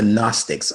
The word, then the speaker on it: Gnostic: Gn. But you don't pronounce the G.